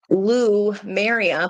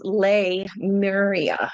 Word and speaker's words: Lemuria: I always thought it was Lou Maria, but it's Lemuria.